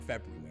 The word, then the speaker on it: February: You don't say the D, but you say the R in February.